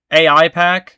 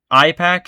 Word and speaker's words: AIPAC: his what did he how did he purposefully mispronounce Apac again? AIPAC. IPAC. He called it IPAC I think.